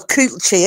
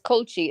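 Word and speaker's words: culchie: Oh, well, coochie. Is it coochie? No, it's culchy. It's spelled like that, but it's culchy.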